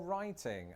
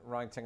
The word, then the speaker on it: writing: you don't pronounce Well, writing. Riding. How do you even mix that up? Riding. Oh, I guess yeah, how Americans would say it, they just don't pronounce the T in writing.